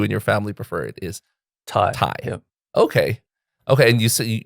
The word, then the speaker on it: Thai: no not really um they just either say thigh like uh like with the th yes but uh or thai like thailand yeah okay but the